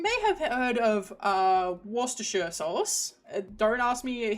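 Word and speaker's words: Worcestershire: So, you may have heard of uh Worster sauce. Don't ask me how that's actually pronounced, but I um I think it's actually pronounced Worster because they don't say sh they don't include the sh so wor sauce.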